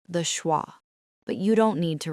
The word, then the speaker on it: schwa: It sounds like a tiny, weak grunt. Listen. Uh, uh. It is not like in father. It is not like in bed. It is just uh. It is the sound you make when someone punches you gently in the stomach.